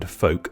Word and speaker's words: folk: silent K in knife, a silent L in folk, a silent M in